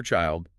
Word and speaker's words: child: The I in child is a long dip thong sound rhyming with mild.